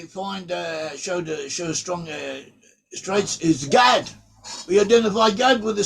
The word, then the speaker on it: Gad: But they have an ancient way of pronouncing Hebrew, and some of them pronounce the word Gad as Goth.